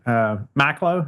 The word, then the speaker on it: Macklowe: Bob, I know you shared a story about, was it Harry Macklowe?